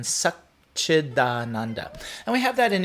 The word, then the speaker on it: Satchidananda: In Sanskrit, we have what's called a sandhi, where words are changed, the beginning and ends of words are changed to be pronounced nicer. So Sat Chit Ananda is much more difficult to say than Satchidananda.